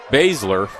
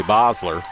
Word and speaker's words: Bosler: Announcer pronounces it as Basler. I'm from St. Genevieve and most of those people that spell their name that way down there say Bosler.